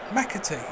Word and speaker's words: McAtee: It's easy. McAtee. It's as it's spelled.